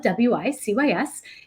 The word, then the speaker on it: WiCyS: We spell it WiCyS, and we pronounce it WiCyS like we sisters because we're a global cyber sisterhood.